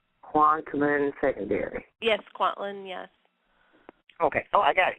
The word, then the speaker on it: Kwantlen: let's see you call conducting make sure I pronounce this right quantum and secondary yes Kwantlen yes okay oh I got yeah yeah yeah